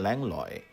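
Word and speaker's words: Langlois: ব্রিজের নামের ক্ষেত্রে আমি লংলোয়া এবং ল্যাংলয় দুটো উচ্চারণই ব্যবহার করেছি।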